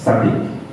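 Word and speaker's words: tzaddiq: You know, the Hebrew word righteous, a righteous man, it's actually pronounced as tzaddik. It's spelled T-Z-A-D-D-I-Q.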